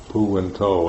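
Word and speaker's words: Buddho: But with a mantra, you've got this one little word, 2 syllables, pu and to, and that's it.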